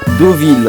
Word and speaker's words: Deauville: Non, ça se prononce O comme l'eau, comme l'eau, comme l'eau. Ah moi je le prononçais EAU. Ah bah, prononce Do. Vas-y, dis. Deauville.